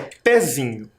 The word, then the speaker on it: pezinho: o pé pé Pein parece que o pé é a silaba mais forte mas não é pezinho pezinho nós nos confundimos por causa